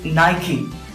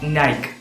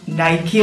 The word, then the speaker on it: Nike: It is Nike, not Nike. So, ഈ വേർഡിന്റെ ഉച്ചാരണം നൈക്കി എന്നാണ്. ഫസ്റ്റ് സിലബിൾ നൈ എന്നും ആൻഡ് സെക്കൻഡ് സിലബിൾ കീ എന്നും.